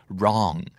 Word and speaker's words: wrong: L จะหมายถึงยาวหรือว่านานครับอันนี้ก็ง่ายอีกแล้วwrong กับ long คำว่า wrong มี w นำมาด้วยนะครับแต่ w ไม่ออกเสียง w r o n g wrong แต่ถ้าเกิดเป็น long ก็สะกดอย่างที่เราได้ยินเลยครับ l